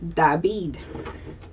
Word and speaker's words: David: that and that is dabid d is spelled the same way but just pronounced differently david in the spelling